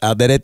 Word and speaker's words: Alderete: Yes, Alderete is correct. I did the correct Spanish role.